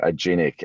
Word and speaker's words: Aginic: australia act um now a genic a lot of people ask how do you pronounce it and what does it stand for it's it's short for agile analytics so a genic and bretton marty started